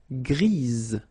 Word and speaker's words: grise: Gris, don't pronounce the S, but then for the feminine form, grise. Remember? Grise. Alright? So when you add this E, basically it gives you the pronunciation or the possibility to pronounce the previous letter here. It's Z. Grise. Alright? So gris, masculine form, feminine form, grise.